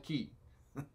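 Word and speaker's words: quay: yeah the key uh it's called the key the fairy key uh which is spelled quu a y key and of course I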